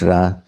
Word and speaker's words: Ra: And uh the Egyptian god Ra, some say Re, but it's Ra.